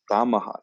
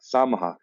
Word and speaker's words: Samaha: Samaha. Samaha.